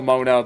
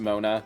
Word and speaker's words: Moana: So, it's still Mona, but it's kind of like Moana, but it's still pronounced Mona.